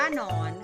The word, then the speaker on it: หนอน: อ่าน ว่า หนอน ค่ะ ตัว นำ คือ หอย อีก นะ คะ ส่วน ตัว ตาม ก็ คือ นอน งู อ่าน นอน หนู หนู นะ คะ จะ อ่าน ออก เสียง หอ หีบ นำ นะ คะ อ่าน ว่า หนอน ค่ะ อ่ะ ดู ตัว อย่าง